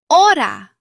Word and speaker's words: hora: The Spanish H is normally silent. You see the letter, but you do not pronounce it. For example, hola. Hola means hello. The H is silent. Listen. Hola. Not hola, just hola. Other examples are hotel, hora, hermano.